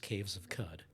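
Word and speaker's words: Caves of Qud: It's pronounced caves of cud, which was just a joke uh so that they could have like a GitHub dro with uh cock.exe.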